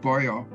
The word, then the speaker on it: Boyer: I would use my grandmother's family name, which is pronounced Boyer in Danish.